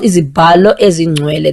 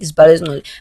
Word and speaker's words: Izibalo Ezingcwele: Now, it's called Izibalo Ezingcwele. That's how you say it. Izibalo Ezingcwele.